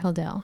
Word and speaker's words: Hodel: Am I saying it right, Hodel?